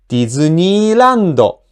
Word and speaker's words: ディズニーランド: So here's the rule. When you pronounce an accented word, from the first mora to the accented mora, you read it in rising pitch. From the accented mora, the pitch falls.